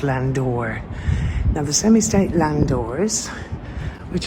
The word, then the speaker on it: landau: Here we have the semi-state landau, it says there, but it's actually pronounced landor.